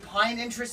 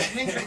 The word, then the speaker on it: Pinterest: Is that like pine interest? Is that what it's called? Pinterest. That's Pinterest. I've been mispronouncing it.